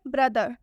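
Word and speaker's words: brother: एक last word है ब्रदर। ब्रदर में टी का उच्चारण द से हो रहा है।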